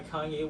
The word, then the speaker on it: Kanye: right to this day she still calls him kane i was literally gonna say king i don't know why she like leaves the y out but i remember her pointing something out about kanye and it's true like